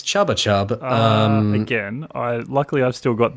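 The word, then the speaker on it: Chupa Chups: You mispronounced Chuppa Chup by saying Chubba Chub. Just to again. I don't think that's right. I think it's Chubba Chub.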